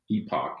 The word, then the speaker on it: epoch: Yeah, because in 1952 they named a new epoch, I guess is how you say it. And it has to do with some lake in Canada. So anyway. Oh, that's a great point. I missed. It's not epic as an EPIC.